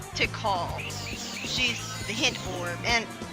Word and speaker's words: Tikal: Well, I always pronounced her name as Tycho when I was a kid. But her real name's Tikal.